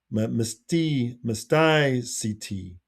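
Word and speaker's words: Mysticeti: Okay, let's see if I can find the pronunciation. I think we saw those earlier, right? Oh, here it is. Mysticity, mysticity, mysticity.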